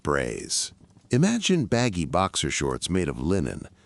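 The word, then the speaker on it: braies: Men's underwear came in the form of braise, pronounced braise.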